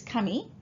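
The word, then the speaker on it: 神: Okay, now pronunciation wise, okay, you need to know that this kanji on its own is kami, okay, but when you combine with other kanji like shinto, okay, and jinja, the pronunciation changes.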